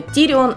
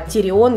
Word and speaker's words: Тирион: поэтому там идут просто невероятные конфузы с ударениями в именах персонажей. Например, Тирион у нас не Тирион, а Тирион.